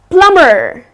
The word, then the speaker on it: plumber: the trades person well plumber it's not slumber but it's plumber so here the B is silent it's plumber so the